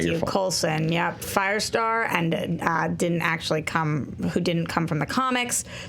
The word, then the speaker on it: Coulson: Coulson? Coulson.